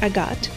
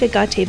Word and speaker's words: Agate: And yes, I know that it's usually pronounced Agate, but I like Agate better, and I feel like that suits the unit better too.